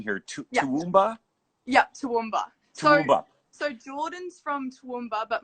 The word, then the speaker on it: Toowoomba: a town and help me out with the pronunciation here too yup toowoomba so jordan's from toowoomba but morgan is from